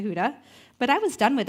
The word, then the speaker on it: Huda: People would call me Hoda, Honda, Hooters. Not sure how some of those names are similar to Huda, but I was done with it.